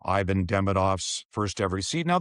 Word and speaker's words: Ivan: He said, it's in Montreal, so it's Yvon, but his name is Ivan. So everyone in Montreal will call him Yvon Demidov. If I go in there, I call him Ivan Demidov.